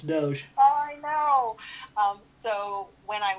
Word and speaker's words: Doge: dogecoin or doggy coin probably yeah mispronounce that you'll get yourself lynched it's doge i know so when